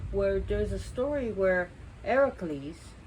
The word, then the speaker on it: Heracles: there's a story where Heracles we pronounce as Hercules here but Heracles who's a hero is one